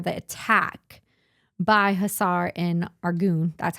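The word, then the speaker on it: Arghun: of Chaol for the attack by Hussar and Argoon.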